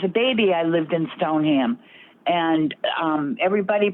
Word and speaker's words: Stoneham: I'm just telling you, the proper pronunciation is Stoneham.